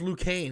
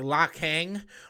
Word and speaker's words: Liu Kang: in Mortal Kombat, and he couldn't even pronounce Liu Kang. He called him, like, La Kang or something like that.